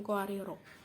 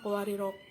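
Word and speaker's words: قواريرا: Di bacaan qawariro ada 3 cara membacanya. Yang pertama, apabila berhenti pada qawariro pertama, maka ro-nya dibaca panjang. Dan apabila berhenti pada qawariro kedua, maka ro pertama dibaca pendek dan qawariro yang kedua dibaca sukun.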